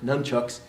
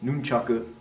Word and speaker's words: nunchaku: handles , the sickles there's the nunchaku right not dumb Chuck sir nunchucks but nunchaku and as we mentioned